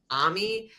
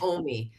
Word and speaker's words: Omi: of them is and I don't know if this is pronounced Ami or Omi I like Ami because Omi is German for grandmother and my kids call